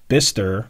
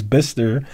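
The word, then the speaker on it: Bicester: production and will be produced at the company's bister i know you guys got on me for this i can pronounce it now the company's bister facility in the uk and q2 and it's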